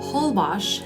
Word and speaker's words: Holbox: Holbox, as it's pronounced, is one of the most geographically unique places in Mexico.